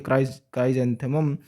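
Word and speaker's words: chrysanthemum: तो क्राइसेंथेमम तो आपको याद रखना ही है, सेंथेमम की जगह आप जेंथेमम उसको प्रोनाउंस कीजिए, क्राइजेंथेमम। तो कैलिक्स के पीछे आता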